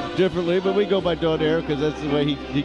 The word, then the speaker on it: Donaire: pronounce this name differently but we go by donaire because that's the way he pronounces it left this country at age 10